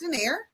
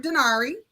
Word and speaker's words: Donaire: name is and my last name is pronounced denair or dinari um so i'm a